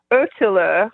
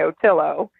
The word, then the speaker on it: ÖTILLÖ: And I was so lucky to get involved in those races right as ÖTILLÖ, which is how you should pronounce it in Swedish, but I'm just going to go American and say ÖTILLÖ.